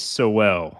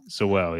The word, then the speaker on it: Sowell: I'm never sure if I'm pronouncing his name right. Sal or So I think Sol. it's Chase Sowell. Okay, Sewell. Sowell, yep.